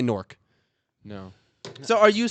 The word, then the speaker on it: Newark: They Newark. would say Newark. So that's I how it should work. be I pronounced.